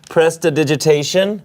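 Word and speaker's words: prestidigitation: not having the gold bracelet and I use Pressa digitation mhm did I say it right yes you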